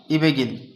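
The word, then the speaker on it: 이백일: বসালাম, তারপরে কী হলো ইবেগিল। যেহেতু কোনো ব্যঞ্জনবর্ণের পরে উপরে ইয়ং আসলে এই ব্যঞ্জনবর্ণটা ইয়ংয়ের জায়গায় গিয়ে উচ্চারণ হয়, সেজন্য আমরা এই গিয়ককে ইয়ংয়ের জায়গায় নিয়ে যাব, ঠিক আছে।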